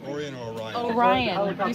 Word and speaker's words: Orion: Orion. You said Orion. I'm from a town called It's all right. Orion.